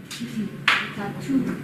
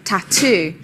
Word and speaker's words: tattoo: Tattoo. Tattoo. Tattoo. Two sounds. Stress is on the second. Tattoo.